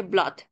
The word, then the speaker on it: blood: ver por ejemplo que yo no dije Blood dije Blood Bueno entonces esta palabra no sigue la regla de que nuestras dos o se pronuncian como bueno el contexto Scoop